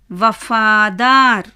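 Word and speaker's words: वफ़ादार: அடுத்த வார்த்தை வ ர வபாதார் வபாதார் நீங்க பார்த்தீங்கன்னா முதலாவது எழுத்து வ இரண்டாவது ஃபா மூன்றாவது தா நான்காவது ர ரா என்ன வியஞ்சன் அதனால எப்படி உச்சரிக்கணும் ஏர் வபாதார் வபாதார்னா என்ன அர்த்தம் தெரியுமா சமர்ப்பணம்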